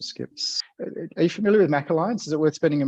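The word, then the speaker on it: MACH Alliance: and feel on the Mac Alliance I think that or the mock Alliance I think is how they pronounce it but I'll let you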